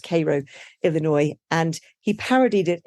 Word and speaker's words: Cairo: Cairo in Egypt but I was told it's pronounced Koo Illinois and he parodied it in Martin chuzzlewit